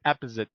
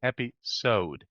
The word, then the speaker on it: episode: say episode right but we don't say epos we say episode there is such a thing called secondary stress right so we have